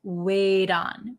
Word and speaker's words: wait on: on wait on um again this T becomes a D sound wait on wait on wait on